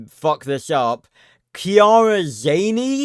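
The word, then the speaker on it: Chiara: a r a is pronounced as Kiara with a K but as for her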